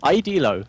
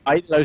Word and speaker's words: Idealo: Idelo. Sorry. Idealo.de. That's what I'm gonna go with. That sounds right. Nice. Idelo sounds about right.